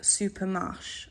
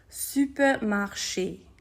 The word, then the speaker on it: supermarché: Okay, so the next word, if that word did not have the apostrophe on the E, you might think it would be said like supermarché, okay? However, it is not supermarché, we should know by now, it's going to be supermarché, okay?